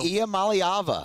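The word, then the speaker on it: Iamaleava: Nico, pronounce his last name for me, Musso. Iamaliava.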